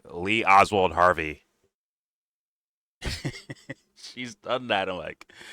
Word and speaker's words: Oswald: you up Lee Lee Harvey Oswalt? He almost said it wrong. Because of Candace. I've been working on saying it. Lee Lee Lee Oswald Harvey.